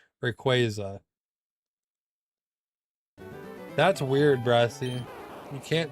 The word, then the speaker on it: Rayquaza: It's Rayquaza. Still doesn't feel right. I'm trying, but Yeah, exactly. You're God forbid. Rayquaza. Yeah. Pokemon put out the official pronunciation. It's qu Rayquaza.